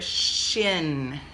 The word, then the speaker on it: shin: called their shin now sounds a little similar like the chin but look at this this one is too chin this one is like Shh in right so we spell it this way okay do s H I and that's it now the chin but that shin okay yeah so it's